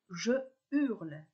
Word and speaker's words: je hurle: et non je habite pour hurler le h est aspiré il n'y a donc pas des visions aussi je dis je hurle et non jure le mieux est de consulter